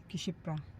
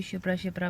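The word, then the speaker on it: क्षिप्रा: किशिप्रा दीदी ने अभी शिप्रा शिप्रा पढ़ के और बोला उसमें के साइलेंट है क्योंकि इंग्लिश में वो किशिप लिखा था। हिंदी में दीदी शिप्राशिप्रा पढ़ रही थी। जबकि वो किशिपरा ही नदी है।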